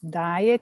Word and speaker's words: dyad: So Charles had this idea of combining different elements, this dyad, D-Y-A-D. Sometimes I pronounce it like a diet, but it doesn't have